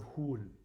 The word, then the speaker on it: Hul: We can instantly connect to her immense power through the ancient and sacred sound of Hul. And the way I spell that is like this.